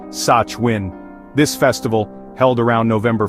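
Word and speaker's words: Samhain: The connection between witches and Halloween begins with an ancient Celtic festival called Sam Hain, pronounced Sachwin.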